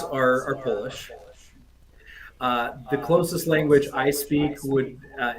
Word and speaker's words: KLOS: German um so the the line over the O gives you that o sound it's close just like you know this object is close to me I've heard a lot of different pronunciations of it but uh yeah it's it's close guitars just like uh you know we're uh you know close as in distance I guess perfect good to know